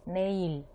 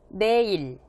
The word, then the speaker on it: 내일: Буква риэль в начале слова она читается как р, в подчиме она читается как л, например, как здесь, неиль.